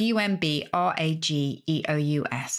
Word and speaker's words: umbrageous: or may not know and that's umbracious outrageous which is u m b r a g e o u s and that g is kind of soft outrageous and you can probably